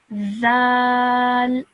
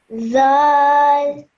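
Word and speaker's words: ذال: this letter over here, take the tip of your tongue and place it between your top teeth and your bottom teeth, and then pronounce it. Zal. Zal.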